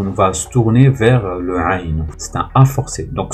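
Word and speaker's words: عين: Au niveau de la prononciation, celle qui n'a pas de point, celle-là, s'appelle le aïn.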